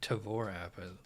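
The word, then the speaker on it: Tavour: can so let me check the tavor or tavora i don't know they say it's pronounced tavor it seems wrong to me let's see here here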